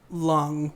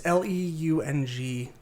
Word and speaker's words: Leung: There's Simu Liu as Shang-Chi and Tony, I want to say Lung, but it's Leung, so I am very sorry that I can't pronounce that.